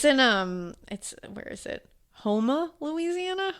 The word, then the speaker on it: Houma: Houma, Louisiana. Houma.